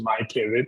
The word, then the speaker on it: MyPivet: So we're on all the social media sites as MyPivet, MyPivet, and we spell pivot phonetically.